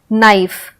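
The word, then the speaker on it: knife: कैसे साइलेंट है जैसे नाइफ तो नाइफ सनोज तो लगेगा की एन से स्टार्ट हो रहा है ना क्योंकि हम कनाई तो नहीं बोल रहे हैं की साइलेंट है नाइस अन्य एन का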